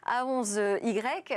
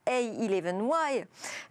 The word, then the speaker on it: A11Y: également de A11Y Paris, je le prononce à la française, A11Y. Alors je me suis renseignée. En fait, c'est une abréviation anglaise, donc j'aurais dû dire A11Y, du mot accessibility, où 11 représente le